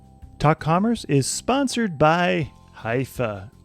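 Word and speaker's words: Hyvä: Commerce is sponsored by hia or as the Europeans say hoofa or the right way to say it hoofa is rapidly becoming the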